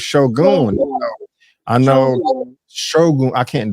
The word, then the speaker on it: Shogun: I keep saying Shogun, but it's Shogun.